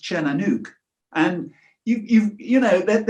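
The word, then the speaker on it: Tír na nÓg: Now, if I was to pronounce it in English terms, it would be Tir-na-nog, but it's not. It's pronounced Cernanuk.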